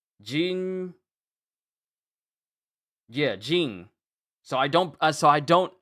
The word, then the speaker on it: Ging: So they're calling him Jean as in a J I N. Jean.